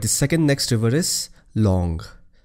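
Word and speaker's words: Tlawng: Alright, the second next river is Long. It is spelled as T-L-A-W-N-G, but you pronounce it as Long. T is silent.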